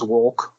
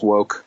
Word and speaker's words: Wolk: probably happens sense but the actor's name is James Wolk sounds like James woke Lucas say enough just saying you could pronounce it woke yes he just looks